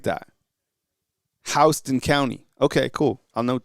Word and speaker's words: Houston: And then Unhinged says, "Kyle, I meant to tell you pronunciation of Houston is Hon." Oh, that's dope. I like that. Hston County.